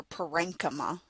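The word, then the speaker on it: parenchyma: parenchyme cells, or PA - REN- KA - MA depending on how you pronounce it.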